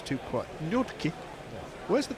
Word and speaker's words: Nortje: It's Henrik Nortje. Nortje. That's how I'm pronouncing it. Other pronunciations are available.